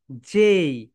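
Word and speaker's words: J: Okay my dear soldiers, so এখানে যেটা দেখতে পাচ্ছ মাই ডিয়ার সোলজার্স, এটাকে আমরা সবাই বাংলাদেশিরা কি বলি জানো? জে বলি, জে। কিন্তু রাইট প্রোনাউন্সিয়েশন কি হবে বলতো? জেই। সবাই বলো জেই।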